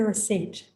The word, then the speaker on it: receipt: This is another difficult word to pronounce because it has a silent letter. What is a receipt?